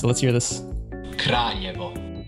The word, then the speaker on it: Kraljevo: All right, so how do you pronounce it? Let's hear this. Kraljevo. Kraljevo, okay.